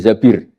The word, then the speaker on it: Zabir: nikah sama Abdurrahman bin Zabir di hadis ini bukan Mbak Bacanya bukan Zubair tapi Zabir. Abdurrahman bin Zabir.